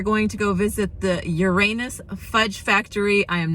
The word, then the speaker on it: Uranus: Right in front of me, we are going to go visit the Uranus Fudge Factory. I am not kidding you, and it's definitely pronounced Uranus and not Uranus.